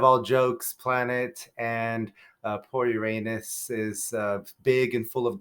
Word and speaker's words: Uranus: So of course, it does derive from that Greek name Uranos, so I will be pronouncing it that way throughout this video.